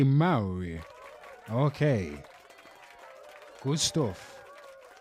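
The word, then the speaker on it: Māori: Well, the natural indigenous way to say it would be Maui.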